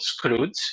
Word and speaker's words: Skroutz: with many different names you pronounce it really correctly it's called Scrooge indeed and for those of